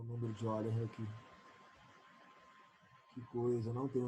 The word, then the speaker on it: Euler: Euler, escrito Euler, só que a pronúncia certa é Euler, né?